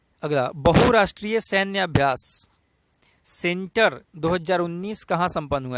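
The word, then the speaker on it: Tsentr: अगला, बहुराष्ट्रीय सैन्य अभ्यास सेंटर 2019 कहाँ संपन्न हुआ है? देखिए, सेंटर का स्पेलिंग एस से है, जबकि सी से होना चाहिए था, टी इसमें साइलेंट हो गया है, लेकिन इसका नाम है सेंटर।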